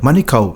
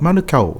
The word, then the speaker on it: Manukau: ones you know yeah money cow manukau isn't it we were telling the boys hey it's not money oh it's not manga it's like you know just try to see that say it properly say it properly yeah